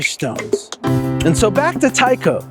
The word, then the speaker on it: Tyko: It's spelled T Y Ko, but it's still Tao.